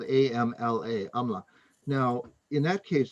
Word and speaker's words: amla: Is Bhumy amalaka the same thing as mountain amla or Indian gooseberry?